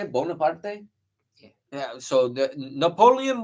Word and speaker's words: Bonaparte: Bonaparte?